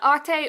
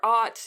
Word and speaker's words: Arte: with our main character atte or art depending on your accent how you want to pronounce it who is a 14